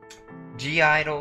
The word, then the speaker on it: (G)I-DLE: today we're reacting to G Idol okay Idol yes I know the g is silent I was thinking earlier